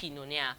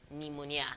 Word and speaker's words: pneumonia: For the pneumonia, the P is silent, so the N sound starts immediately. It's not pneumonia, all right? It's pneumonia.